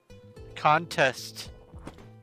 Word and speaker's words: contest: The emphasis is on the first syllable when it is a noun, and contest, the vowels for the second syllable are the emphasis when it's a verb.